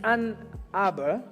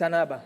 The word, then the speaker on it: Ann Arbor: It's Ann Arbor. I say it like a Louis Anaba, It's Ann Arbor.